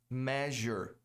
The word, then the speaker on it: measure: Measure. Igual a pleasure, prazer, né? Measure. Muita gente pronuncia como measure. Parece outra coisa, né? Não é measure, não. É measure. O fato é o seguinte.